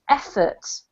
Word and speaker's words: efforts: this right here is pronounced efforts a short yeah the emphasis on the first syllable okay mm-hmm apart from